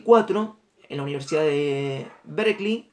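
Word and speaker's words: Berkeley: en la universidad de berklee se escribe ver que ley pero se dice berlín se empieza a dar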